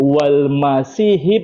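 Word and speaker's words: والمسيحِ: Tapi di situ ada kesalahan, Bang, di Quran sebenarnya bacanya yang benar. Min dunillahi wal Masihi bni Maryam. Iya, begitu. Bukan ha, bukan fatah, bukan baris atas.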